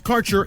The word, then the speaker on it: Kaercher: Your connection to quality cannabis insurance services is spelled Kaercher. That's Karcher Insurance.